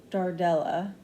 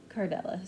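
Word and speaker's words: Cordelia: is just such a darling and dainty name is uh Dardella or I mean Cardella sorry Cardella. So it's spelled as C O R D E L I A and the origin is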